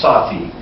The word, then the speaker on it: sati: this practice called sati h or essay it's pronounced sati but it's spelled s-a-t-i um and this was